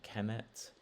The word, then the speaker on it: Kemet: So it's of, and then Kemet is how Egyptologists pronounce it, at least.